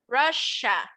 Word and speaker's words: Russia: um in this case this double s i'm not going to pronounce it like an s i'm not going to say russia no instead i'm going to pronounce it like a sh russia let's go ahead and